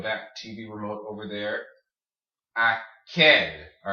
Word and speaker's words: aquel: Aquel. All right, see the Q-U-E? Aquel. Queso. Aquel. All right. So when you have the Q-U-E, it makes a K noise, like queso, aquel.